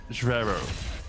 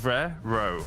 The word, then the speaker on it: Rivero: a buzz on Discord it's Vero Rivero like it's rare row apparently so I'll try with